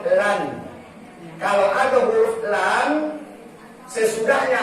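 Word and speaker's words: لن: Lam nun mati dibacanya lan.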